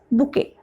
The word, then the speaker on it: bouquet: T is silent. This is K.